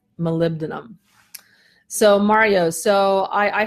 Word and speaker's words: molybdenum: it including myself so the phonetic pronunciation is Molly Beaton molybdenum so Mario so I